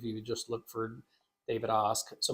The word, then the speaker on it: Ask: So if you just look for David Osk, so my last name, of course, is spelled like ask. So if you're listening right now, it's ASK, Yeah. pronounced Osk.